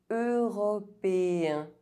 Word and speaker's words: européen: Européen. Otherwise, EN is pronounced en.